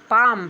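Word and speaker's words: palm: आगे है पी ए एल एम पाम।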